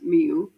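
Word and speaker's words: Millau: I eventually live in France where will it be kind of part of that journey led me to a place called Milo pronounced mu locally where I completely fell in love with the landscape.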